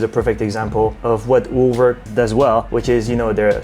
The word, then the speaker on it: Urwerk: I went with the Urwerk UR100V Urwerk! Urwerk, yes its how you pronounce it Yes in the in the normal language because Urwerk just in